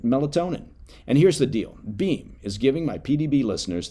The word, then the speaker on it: Beam: Now, Beam, it's spelled be a M.